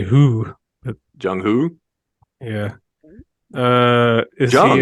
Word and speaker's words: Hoo: I would say who.